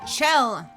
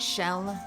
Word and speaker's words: Chell: chell's Coming For You Chell is it Chell with a cha not shell like an sh I guess it's Chell she pronounces her name Chell no more I can't